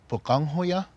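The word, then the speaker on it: Pöqangwhoya: our culture, and the older brother's name is pronounced Bukanghoya, and the younger brother Palungahoya.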